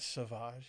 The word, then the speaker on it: Sauvage: Sauvage. You don't call it savage. You call it sauvage. You pronounce it a different way.